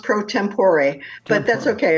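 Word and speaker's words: pro tempore: So, I want to ask you about you're the president, if I'm pronouncing it right, pro tempor, right? It's actually pronounced prompor, but that's okay.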